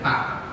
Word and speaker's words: Pak: The K is pronounced clearly, Pak.